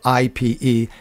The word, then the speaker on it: ipe: hardwood a tropical hardwood called ipe it's spelled ipe it's pronounced ipe which would be a good choice